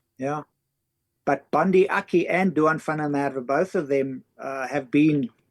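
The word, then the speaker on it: Duhan van der Merwe: So this is just wanted to show this is the other South African born player, and again you could pronounce his name, Rifle. Duan van der Merwe.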